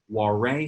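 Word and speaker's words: Warré: Now this is a Warre style hive. That's W-A-R-R-E with like a little accento over the E.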